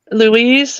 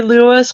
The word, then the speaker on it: Louis: He says he pronounces it as Louise, or but I say Lewis because to me, like when I try to say it the way he does, it sounds to me in my ears like I'm saying it a girl's name.